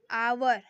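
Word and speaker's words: hour: एन इसलिए लगा क्योंकि आवर इसका उच्चारण क्या है? आवर अ से आवर। एस जो है वो साइलेंट है।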